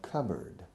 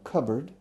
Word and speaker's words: cupboard: a cup board but the evolution of the pronunciation has transformed the pronunciation into cupboard cupboard in the United